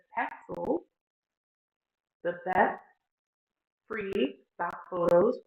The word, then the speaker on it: Pexels: Let's go and open a new window and type in pixels. Yes, I know I pronounced it wrong. That's okay. All right, it says Pexels, the best free stock photos, royalty-free images, and videos shared by creators.